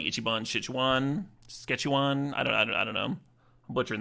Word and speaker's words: Szechuan: There's a, the main Chinese food I eat is from a place called like Ichiban Szechuan.